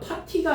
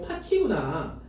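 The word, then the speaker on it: 팥이: 근데 파시는 파치라고 발음하는 거 맞지? 아 파티가 아니고 파치구나. 응. 맞아.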